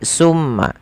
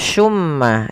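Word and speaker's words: ثم: Teman-teman, hati-hati di dalam melafalkan su, jangan sampai kita membacanya dengan sin. Dengan pakai su gitu ya, pakai summa. Karena kalau kita merubah dan menggantinya maka maknanya berubah. Hati-hati juga jangan sampai terdengar dengan baca shumma, shumma dengan shin. Ya, akan tetapi itu adalah huruf sa.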